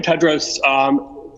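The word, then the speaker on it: Tedros: for the question and the correct pronunciation of my name is dr. Ted Rose greetings to you again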